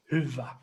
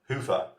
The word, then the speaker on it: Hyvä: It is Finnish.